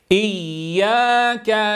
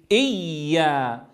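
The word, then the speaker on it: إيّا: فلا يصح أن أقول كما أسمعه يعني في نطق البعض إيا إيا. ماذا فعل هنا؟ جعل من الياء حرفا شديدا فقطع عندها الصوت إيا، والأصل أن الياء رخوة ولكنها هنا مشددة.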